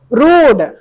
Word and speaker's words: rude: RU, यहाँ पे spelling mistake हुआ है लगता है। RUDE, उस बीच वाला आर को थोड़ा काट दीजिए। रूड, ठीक है, रूड।